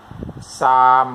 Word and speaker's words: salmon: ที่ ถู ก ต้ อ ง คื อ salmon น ะ ค รั บ salmon ไ ม่